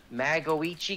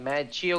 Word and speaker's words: Magoichi: And his in-game name is Magoichi Guns. Magoichi Guns? That's yeah. How you pronounce it? Yes. Holy shit. Like, I was like, Mad Chio Guns.